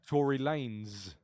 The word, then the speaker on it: Tory Lanez: that word yeah like Tory Lanez for example we know that that is pronounced lens because it's just replaced an S with a z same phonic but adding an extra